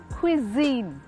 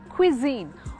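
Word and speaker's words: cuisine: आई एन ई इज क्विजन okay the right way of saying this word is क्विजन और क्विजन का क्या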